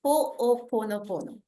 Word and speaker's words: Ho'oponopono: Yes, of course, Andrea, because I have seen that in India, still Ponopono is very new, and it is pronounced as Hooponopono. Hooponopono.